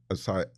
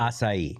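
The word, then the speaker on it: açaí: festivals, smoothie bowls and asai is it asai or I always pronounce it asai. Asai.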